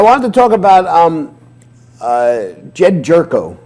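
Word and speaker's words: Gyorko: I wanted to talk about Jed Jerko. Is that how you pronounce it? Yeah. Jerko? Okay.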